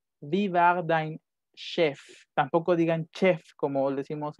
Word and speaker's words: chef: river danger time shift lo pronuncian como sh esta palabra que es la tomaron de otro de otro idioma si con ese h aquí no es jefe con jota div align chef tampoco digan chefs como